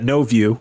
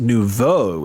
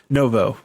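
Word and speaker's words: nouveau: no that's actually pronounced Nuvo it's French which yes of course that is the way it's supposed to be pronounced Brody just pronounces it Novo it's right in the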